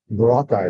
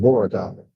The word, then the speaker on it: Boracay: Boracay is another one. They call it Boracay. Boracay. It's not Boracay, it's Boracay. Second syllable accent.